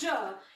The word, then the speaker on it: je: We pronounce it as je.